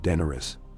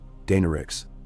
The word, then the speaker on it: Daenerys: Not Daenerys. Daenerys, the accent Old Valyrian meaning fireborn of conquerors. The walker knew of her. Before he could probe, footsteps squelched behind. Daenerys herself emerged, cloak bright white, trimmed in red leather.